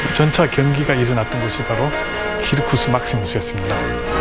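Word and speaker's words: circus: 그 중에서 가장 대표적인 경기장이 키르쿠스 막시무스였습니다. 자, 키르쿠스는 스펠링이 C-I-R-C-U-S입니다. 영어로 읽으면 어떻게 돼요? 서커스죠.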